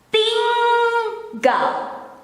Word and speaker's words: tinggal: So if you have no problem pronouncing the ringing, singing, you will not have any struggle or difficulties when you have to say the N and G.